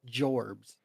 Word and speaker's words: jobs: so it's actually pronounced jorbs not that's right it's written like jobs but it's pronounced jorbs okay okay are these